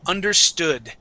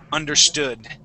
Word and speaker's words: understood: First up is understood. Okay, the accent or the stress is at the end of the word, understood.